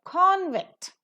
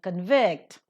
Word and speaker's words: convict: as nouns and words when they are functioning as nouns or adjectives the stress would be given to the first syllable but if they are